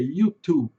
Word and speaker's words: YouTube: Em português, nós temos o costume de colocar o i no final de todas as palavras, principalmente de palavras em inglês. Por exemplo, YouTube, Facebook, TikTok. Em inglês, a pronúncia é bem diferente.